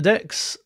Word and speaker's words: deque: features with decks so decks um are short and yes they are pronounced like that short for double-ended Q what that means is